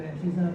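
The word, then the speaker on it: abscissa: इसमें जो पहला अंक है इसको हम एब्सिसा कहते हैं, एब्सिसा, CISSA, ABS, ये एस है, हाँ साइलेंट हल्का सा, और ये कहलाता है ऑर्डिनेट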